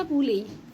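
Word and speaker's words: poulet: استخداماتها كتير قوي في الدروس لما نقول فرخه بوليه فرخه بوليه بوليه اخرها اوتيه انطقها ايه بس كانت دي كده كل الكلمات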